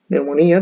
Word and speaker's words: neumonía: Neumonía también se puede escribir así. ¡Wow! Patógenas. Así. Neumonía. Pero no se pronuncia la P.